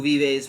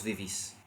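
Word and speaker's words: vivís: And it's not tu vives, but rather vos vivis.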